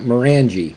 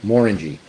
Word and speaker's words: Morangie: Okay, it's not Morangie, by the way. Okay, Morangie. Just like an orangey.